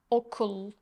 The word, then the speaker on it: Okul: Okul. School. Okul. Okul. Okul. Okul. Okul. Okul. Okul. Okul. Okul. This is similar to the sound in the middle of these two words in English. Thought. Cambodia.